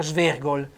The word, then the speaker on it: svergol: Svergol, ma guarda quel tipo là che va via, svergol, va via storto, sbilenco, quindi svergol, accento tonico sulla O e accento fonico aperto.